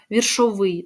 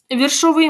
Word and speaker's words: віршовий: а віршовий віршовий да віршовий навіть тут наголос на останній склад падає віршовий може бути той який